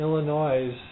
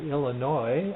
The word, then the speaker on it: Illinois: had been sitting in Illinois or Illinois I guess is the proper way to say it that s is silent at the end for 72 hours in